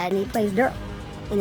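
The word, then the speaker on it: Derle: And he plays Durl and it's spelled D E R L E. It's not Daryl, it's Durl.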